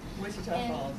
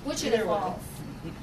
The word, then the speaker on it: Wichita Falls: Wichita Falls. Wichita Falls.